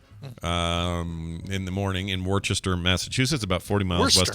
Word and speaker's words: Worcester: worcester would i say warchester worcester yeah worchester it's weird because they they pronounce those first five letters as worse yeah and then the last four letters as stir so worcester worster that makes sense or